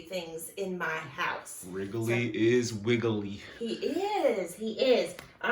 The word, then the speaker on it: Wrigley: with a W, but he's kind of a silent W because we hear the sound, but his name is Wrigley, and it's spelled W-R-I-G-L-E-Y.